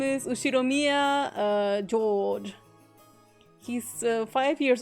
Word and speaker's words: Ushiromiya: asking the first part is my family name ushiromiya okay thank you that's a very plausible japanese pronunciation so far the problem is my given